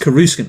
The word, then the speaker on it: Coruscant: It's pronounced Coruscant, right?